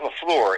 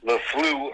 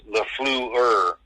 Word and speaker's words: LaFleur: It's not LaFleur. It's LaFleur. I learned that this week. I've been saying it wrong, so it's LaFleur. L-E, then F-L-E-W, then E-R.